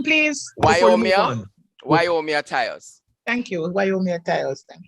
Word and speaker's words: Tyus: Is it Tyrus? Okay. You're pronouncing it a little incorrectly, but I think you know who you want to say. It's Tyus.